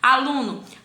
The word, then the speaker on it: aluno: Aluno, aluno. Então, a sílaba tônica é lu.